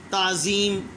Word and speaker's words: تعظیم: تعظیم، پہلے پر زبر، دوسرا ساکن، تیسرے کے نیچے زیر، چوتھا پھر ساکن اور آخر والا ساکن ہی ہوگا.